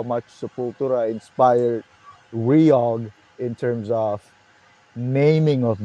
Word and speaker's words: REOG: And Sepultura, I'll give you more story how much Sepultura inspired Reog in terms of naming of the band.